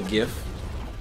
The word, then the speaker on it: GIF: love this listeners I am pulling up a gift that's right I said GIF that's how it's pronounced um I'm going to pull up a